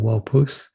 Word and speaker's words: Waupoose: which was guided by our guest teacher walpouth am i pronouncing your name correctly absolutely okay great yeah